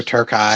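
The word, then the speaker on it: Terkay: So yeah, it's Elijah Burke and Sylvester Turkai, Sylvester Turkai. although it's spelled like Turkey.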